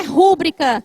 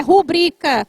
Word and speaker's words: rubrica: Vocês se lembram que eu disse para vocês que muita gente chama rúbrica? Não é rúbrica, não tem o acento, é rubrica sem acento, tá?